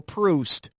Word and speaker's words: Proust: do it with alcohol choose the word that rhymes with the correct pronunciation of this famous author's name boozed soused juiced the frenchman who wrote remembrance of things past was marcel proust as in when i'm juiced and need a boost